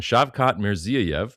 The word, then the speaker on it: Shavkat Mirziyoyev: President Trump could not pronounce their leader's name, but they're on there. Nobody can. It's fine. I can. Shavkat Mirziyoyev, because it took me a couple days to